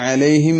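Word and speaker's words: عليهم: പറയണം വേറെ ഒരു കാര്യം അൻത എന്ന പദത്തെ അലൈഹിം എന്നതുമായി ചേർത്തി വായിക്കുമ്പോൾ അലൈഹിം എന്ന് വെറും അലിഫ മാത്രമേ താനുശേഷം കേൾക്കാറുള്ളൂ അപ്പൊ താനുന് ശേഷം അവിടെ അലിഫ് അല്ല അൻത അലൈഹിം നേരത്തെ പറഞ്ഞതുപോലെ ഹംസയാക്കി ഉച്ചരിക്കാറുണ്ട് അൻത അലൈഹിം അൻത അലൈഹിം എന്ന് ഈ മൂന്ന് അക്ഷരവും ഒരേപോലെ ഉച്ചരിക്കുന്ന സ്വഭാവമുണ്ട് അത് തെറ്റാണ് അവിടെ ഒറ്റ ഹംസയെ ഉള്ളൂ അൻത എന്ന സ്ഥലത്ത് മാത്രമാണ് ഹംസ ഉള്ളത് അത് കഴിഞ്ഞിട്ടുള്ള രണ്ട് അക്ഷരവും ഐനാണ് അപ്പൊ അൻത അലൈഹിം അലൈഹിം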